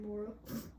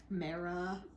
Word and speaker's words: Mara: Yeah, my name gets mispronounced a lot. Mora, Mara. What other? There's been other mispronunciations. Mira, Maya. It's M-A-R-A. It's not that hard.